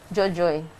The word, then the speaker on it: Dzordzoe: How would you pronounce it? Looking at it. Dzordzoe. Is that correct? yes. Okay, how would you pronounce it, Frank, looking at it? Jojo.